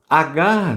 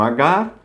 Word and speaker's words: Hagar: Portanto, a pronúncia não muda, escrever Agar com H ou Agar sem H. Tranquilo? Abraão teve relação com Agar.